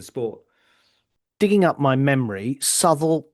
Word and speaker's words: Southwell: Digging up my memory, Southall and Toaster are my two other favourites. I had to actually write the pronunciation down because, of course, they're spelt Southwell and Tocester.